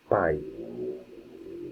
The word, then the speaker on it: pai: One thing that happens with the English language is the p sound is more aspirated.